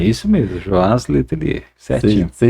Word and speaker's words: Joás Letelier: É isso mesmo a pronúncia? É isso mesmo, Joaz Letelier.